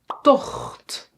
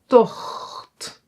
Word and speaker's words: tocht: And tocht. Tocht. Yeah? So, here it is pronounced as a g, but in some words